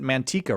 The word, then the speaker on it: Manteca: there but here it's spelled like the Spanish word for lard which is actually a